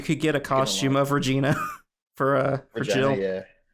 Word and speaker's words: Regina: get a costume of Regina for Jill. Yeah. I always say Regina. Isn't that how they say her name? No, it's Regina. I swear to God, they say Regina.